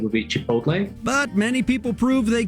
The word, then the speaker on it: chipotle: those live laugh love signs are choogy next chipotle the korean pronunciation in spanish is chipotle which is already a difficult word to pronounce it comes from the nawato a language in mexico american pronunciation would be chipotle but many people prove they could manage either